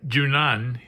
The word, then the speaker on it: Juno: for the high priestess Juno or junan if you don't want to say it with an English pronunciation okay next we have